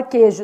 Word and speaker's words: queijo: e quantos fonemas então na palavra queijo seis letras cinco fonemas adfo porque o não é pronunciado u é nulo já na palavra sequência